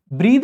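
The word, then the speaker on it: breathe: ब्रीद आपकी एक verb होती है, ध्यान देंगे इसमें पीछे ई रहता है और इसका प्रोनाउंसिएशन ब्रीद होता है।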